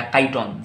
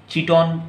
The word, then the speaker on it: chiton: पड़ेगा, जिसका नाम है चाइटन या काइटन, जैसे भी आप याद रखना चाहेंगे, CHITON, चिटोन या काइटन या चाइटन, ठीक, इस तरह से आप प्रोनाउंस कर सकते हैं।